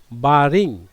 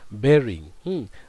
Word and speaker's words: bearing: And remember one thing, তোমরা এখানে দেখতে পাচ্ছ দে ওয়্যার, অনেকে বলে কিন্তু বারিং, actually it is wrong pronunciation, this is bearing.